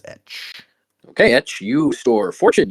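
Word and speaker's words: Etsch: I would pronounce that as Etch.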